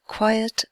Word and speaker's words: quiet: on the word quiet because quiet has two syllables it has two sounds over here quite is